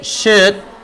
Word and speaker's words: should: She should get some rest. Jadi ada keharusan. Kalau masih kesulitan baca should ini nggak perlu pakai L ya.